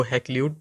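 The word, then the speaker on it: Hakluyt: है रिचर्ड ककलेट और इसको हे क्लूट भी पढ़ा जाता है दोनों तरह से यह प्रोनाउंस होता है जो यूके ब्रिटिश है उस उस में हम हैकले इसको पढ़ते हैं तो जो ये रिचर्ड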